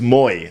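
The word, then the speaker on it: Moïse: me with the pronunciation i think it's moy i think she said it was m-o-e-e-e is how you would like say it so what's that bowie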